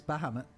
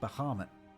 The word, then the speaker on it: Bahamut: Yep, that's Bahamut. I keep saying Bahamut, but I'm pretty sure it's Bahamut is the way you're meant to pronounce it.